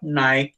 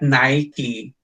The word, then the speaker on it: Nike: say the correct pronounce the correct pronunciation of nike is not Nike But nikee you are correcting the